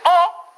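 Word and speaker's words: aux: Le O se pronuncia O, la X no suena. Eso se pronuncia O y también eso pronuncia O. La única diferencia se hace solamente al escribir, de manera escrita. Pero si va a seguir un vocal, la X sí va a pronunciar.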